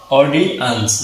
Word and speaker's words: audience: যখন আমরা অ বলবো তখন মুখটা গোল করে বলবো অ ডি, অডি, অডিয়েন্স। যেখানে লিখেছি অ বলার সময় একটু লম্বা করে বলতে হবে অডিয়েন্স, অডিয়েন্স, অডিয়েন্স।